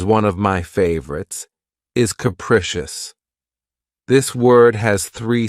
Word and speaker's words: capricious: of my favorites is capricious this word has three syllables and the stress is on the second syllable keep in mind that the first syllable has that schah sound capricious capricious if someone or